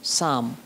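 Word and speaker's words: psalm: उनको साम कहते हैं पी एस ए एल एम साम पी साइलेंट उसी को हिंदी में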